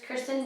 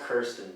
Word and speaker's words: Kirsten: So it is Kristen Dunst and what's her name? Wade's wife. I think it's pronounced Kirsten.